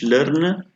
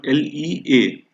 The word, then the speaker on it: lerne: So this sentence in German will be Ich lerne. Make sure, friends, LERNE, not LEA. It's not the German. It's not the English word.